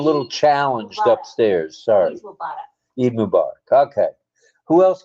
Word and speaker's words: Eid Mubarak: Eid Mikbar, right? Eid. Eid Mubarak. Mubarak. Yeah, Mubarak. All right. All right, I got it right. I'm a little challenged Mubarak. upstairs. Sorry. Eid Mubarak.